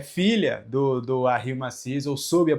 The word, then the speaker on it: Massis: Porque eu apanhei dessa pronúncia e graças a Cris Massis, que é filha do Harry Massis, eu soube a pronúncia correta, ela me ensinou a pronúncia correta.